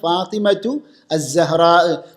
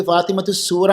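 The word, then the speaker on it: فاطمة الزهراء: ഉച്ചാരണം എങ്ങനെയാണ് അങ്ങനെ ഉച്ചരിക്കുകയാണെങ്കിൽ ശരിയായ ഉച്ചാരണം എന്താണ് ഫാത്തിമത്തു അസഹ്റാഹ് നമ്മുടെ നാട്ടിലൊക്കെ ശരിക്ക് ഫാത്തിമത്തു സൂറ എന്ന് പറയും അതെ അങ്ങനെ ആ സീൻ കൊണ്ട് ഉച്ചരിക്കുക അതും സൂറ എന്ന രൂപത്തിൽ അത് ശരിക്ക് തെറ്റായ ഉച്ചാരണമാണെന്ന് സാന്ദർഭികമായി പറയുകയാണ് ഇമാം സുഹ്രിയുടെ ഉസ്താദ് ആരാണ്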